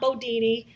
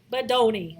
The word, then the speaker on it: Bodoni: No, not Bodini, Bedoni.